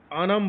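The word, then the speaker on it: ഓണം: हैं ओनम ठीक है उनको ओनम बोलते कोई अनम बोलता है बस उन उनके हिसाब से इस फेस्टिवल का प्रोनाउंसिएशन कुछ अलग होता है। ठीक है? हम ज्यादातर सुनते हैं वही ओनम।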